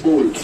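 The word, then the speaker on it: bowl: इसमें मैंने एक बाउल रख दिया है, इस पे भी रखा है कटोरा type. Clear? Right pronunciation is बोल, राइट।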